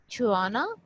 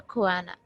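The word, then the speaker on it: choana: ये इसकी 3-4 प्रोनाउंसिएशन है, आप जो भी इसको प्रोनाउंस करना चाहो कर सकते हो। कुछ पे जो मैंने सर्च किया था उसमें छुआना था, कुछ पे खुआना था, लेकिन ज्यादातर लोग छुआना भी कहते हैं इसको।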